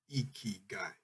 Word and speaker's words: ikigai: in japan millions of people have ikigai pronounced iki guy a reason to jump